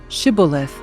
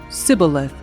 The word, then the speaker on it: Shibboleth: If the man said, "No, I am not," they would tell him to say Shibboleth. If he was from Ephraim, he would say Sibboleth, because people from Ephraim cannot pronounce the word correctly.